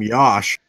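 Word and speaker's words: Yosh: goes by the name Yash okay uh well he's 23 years old at Virginia Tech a 6 fo7 offensive tackle weighing 314 pounds okay uh his first name rhymes with Josh apparently according to the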